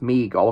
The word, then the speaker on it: Mego: in there and it's made by a Meo or pronounced Migo according to to his description down here that's the designer um